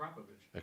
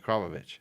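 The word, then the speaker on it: Akrapovič: Akrapovic. That's a hard one. No, it's a Kropovich. Kropovich.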